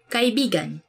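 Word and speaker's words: kaibigan: kai bigan meaning friend let me say something about this word because like you have to say it like this kai bigan but when you twist it a bit and say it like this that's kind of it's not really a natural way of saying it but it actually means lover so like when you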